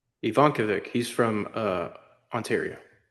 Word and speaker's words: Ivankovic: Ivankavic. Ivankovic.